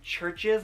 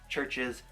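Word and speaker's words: CHVRCHES: a trace by churches I believe that I pronounce their name it's like c hv r CH es i'm not entirely sure but to me it looks like churches so that's what I'm gonna say I had found this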